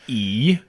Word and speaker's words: I: So yeah, the letter I, pronounced E, means change.